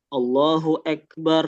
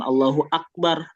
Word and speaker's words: Allahu Akbar: Atau yang sering kita dengar mungkin berapa misalnya kalau azan ada yang dibaca Allahu Akbar ya bukan Allahu Akbar a-nya jadi dia enggak jelas a Allahu ek gitu.